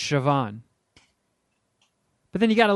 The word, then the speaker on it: Siobhan: it looks like you would phonetically pronounce it co band but it's Siobhan but then you got